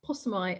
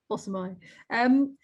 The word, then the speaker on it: Pasami: It's Pasami, actually. Sorry, Chris. Oh, sorry. Don't worry. Honestly, everybody makes that mistake. It's Italian, so it catches people out. So yeah, it doesn't rhyme with pastrami. Pasami.